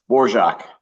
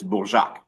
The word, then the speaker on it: Borjac: Borjac. Borjac. Yes. That's if you're saying it in English. If you're saying it in French, it's Bourjac.